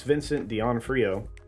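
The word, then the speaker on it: Vincent D'Onofrio: show which I know a lot did plus Vincent Deon Frio that's how you say his name is back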